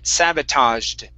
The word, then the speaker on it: sabotaged: So this word is pronounced sabotaged. Sabotaged. Sabotage. Sabotage. Okay. All right. So almost. So the base word is sabotage with the z sound at the end.